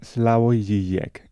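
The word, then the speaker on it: Slavoj Žižek: algún que otro filósofo, por ejemplo, el esloveno Slavog Sisec, creo que se pronuncia así. La forma correcta, si no me equivoco, sería Slavo y Jek, pero Jek Cizek, tampoco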